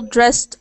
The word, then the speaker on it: dressed: just typed yeah all dressed up okay it follows the rules voiceless no vibration s sound T pronunciation all dressed up makes a t sound it follows the same